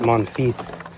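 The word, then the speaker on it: Monifieth: I think they just pronounce it Monteith around here with the accent.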